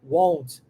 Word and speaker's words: won't: Parece a pronúncia de want, né? Mas é aberto, tá vendo? Want, won't, want.